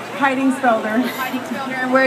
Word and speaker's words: Heidingsfelder: Mary how do you say your last name hiding speler hi sper and where are you from Mississippi